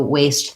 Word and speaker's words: waist: about waste and waste those both have the same pronunciation so waste the body part waste trash and they both have the a tense a and then your other